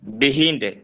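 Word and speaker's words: behind: বিহাইন্ড। পিছনে আরবি, পারবো। পিছনে শব্দের উচ্চারণটা, জি এটা শব্দের উচ্চারণটা, হ্যাঁ আপনি বিহাইন্ড বলবেন, বিহাইন্ড অথবা বাহাইন্ড, বিহাইন্ড বিহাইন্ড অথবা বাহাইন্ড দোনোটাই শুদ্ধ, ঠিক আছে?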